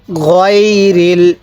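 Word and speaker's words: غَيْرِ: সিরতল লাদিনা আনআমতা, এরপর পড়ুন আলাইহিম, এরপরে হ্যাঁ গয়রিল, গায়রিল কেউ পড়বেন না, গয়রিল মাগদুবি, মাগদুবি আলাইহিম, এরপর পড়ুন ওয়ালাদ্দল্লিন।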